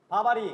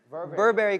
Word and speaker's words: Burberry: 우리가 지금 입고 있는 게 뭐죠? 바바리. 바바리요. 네, 바바리. 바바리 코트. 이게 올바른 단어가 아닙니다. 와. 원래는 Burberry coat. Burberry coat. Burberry coat. Burberry coat. 저 발음 좋죠.